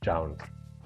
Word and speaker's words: JJJJound: it's how it's spelled and but it's pronounced JS so for those wondering if is a starter it's not it's just I guess the way that it's placed and played with so it's 4js but it's pronounced JN let's get unboxing and here they are they